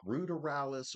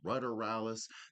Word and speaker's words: ruderalis: If you're wondering, like ruderalis or ruderalis, there's two different pronunciations to them.